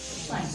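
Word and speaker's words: science: For example आप एक word लिखते हो साइंस, क्या लिखते हो, साइंस। अगर आप इस वर्ड को देखें तो साइंस वर्ड जो है आपका, इसमें सी को प्रोनाउंस नहीं किया गया।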